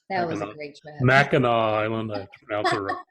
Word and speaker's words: Mackinac: trip up to mackinac island mackinac have to pronounce it like i'm a michigander but yeah i know